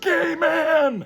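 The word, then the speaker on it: Gaiman: you say is it Gman is it gamman and they were like screaming at me it's Gman it's pronounced gay man and I was like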